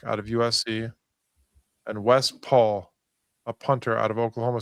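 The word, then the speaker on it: Pahl: And Wes Paul, a punter out of Oklahoma State. And that's how you pronounce his last name, even though it's P-A-H-L. And it's not Les Paul like a guitar.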